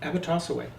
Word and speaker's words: Abotossaway: Did I pronounce it? Abotossaway.